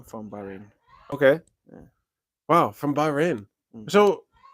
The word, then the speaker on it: Bahrain: how do you how do you say this b-a-h rain yeah yeah yeah so what did what do you say how can we visit your place and from I'm from Bahrain okay wow from Bahrain so like like originally from Bahrain that's crazy